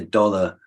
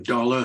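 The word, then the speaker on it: dolour: cured to think their dollar others have endured yes that's so true dollar some people pronounce it dollar we use the old pronunciation A Lot the French still have that word it means yeah b-o-l-o-u-r-d-o-l-o-u-r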